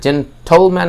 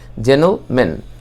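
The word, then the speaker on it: gentleman: তার পাশাপাশি আপনার এটা জেন্টলম্যান যখন হচ্ছে, এটা সাউন্ডটা এটা সাইলেন্ট হবে। এটা জেন্টলম্যান না হয়ে এটা জেনল এরকম হবে, জেন্টলম্যান।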